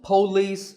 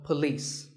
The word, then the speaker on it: police: word number six is police this isn't police or polis it's paw and beliefs with the stress on lease so police the next word is